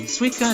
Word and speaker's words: Suica: If you see that in a sentence, it's probably gonna be pronounced like Swede. Like Sweden.